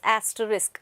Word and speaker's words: asterisk: use of this word that is asterisk okay and not to make this s letter silent next time tk so